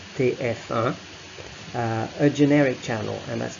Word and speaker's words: TF1: And finally, in this group here, the last one, you do have France's most popular TV channel, TF1, so pronounced in French TF1, a generic channel, and that's the most watched channel in France, TF1.